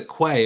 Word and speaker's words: koe: a so for me the quay is spelt k-o-e but it smells like k-w-o-e yeah so if you're